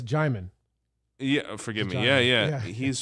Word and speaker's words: Djimon: When we talk about the people in Benin, like, you're familiar with Djimani Hansu, the guy from Blood Diamond? Oh yeah, I've actually interviewed him. Really? Yeah, it's Djimon.